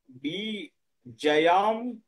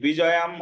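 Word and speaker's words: विजयं: বি বিজয়াম, বিজয়াম Krishna, নচা নচুয়া, বলছে রাজ্জাং সুখানিচা। বিজয়াং নকংস, ও ওই বিজয়াম হবে না, বিজয়াং হবে।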